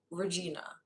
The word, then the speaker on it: ReGINA: I mean, like, to be clear, it's legitimately spelled ReGINA. ReGINA. It's spelled ReGINA. Here I am thinking he's saying vagina.